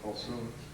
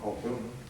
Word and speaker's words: Kulthum: the Arab world, and this was Kulthum, or Kulthum, either pronunciation.